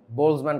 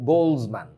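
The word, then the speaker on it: Boltzmann: উনার নাম বারবার আসবে বোলসম্যান কনস্ট্যান্ট উচ্চারণে টিটা সাইলেন্ট থাকবে আর কি বোলসম্যান এরকম আর কি লুক বোলসম্যান স্পেন্ট মাচ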